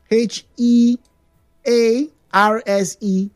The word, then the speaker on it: hearse: Hurse. All right, let me spell that for you. H E A R S E. Hurse.